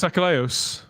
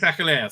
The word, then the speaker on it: Achilleos: How'd you pronounce his name? No, it's not Peter Angeli. Chris Achilleos. Chris Achilleos, that's the one.